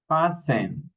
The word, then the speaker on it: fasten: Here, castle, castle, Christmas, fasten, hustle, listen, mash, mortgage, nestle, often, okay? We don't pronounce the letter T in these words.